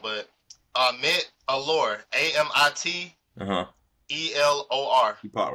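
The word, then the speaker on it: Amit Elor: Her name is, excuse me, I don't want to pronounce her name wrong, but Amit Allure, Uh-huh. Amittelor. She popped right up. Amit Alor, I'm pretty sure you pronounced it right.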